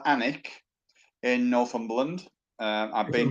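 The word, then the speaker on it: Alnwick: i c k pronounced anik so you don't pronounce the l in effect and if you google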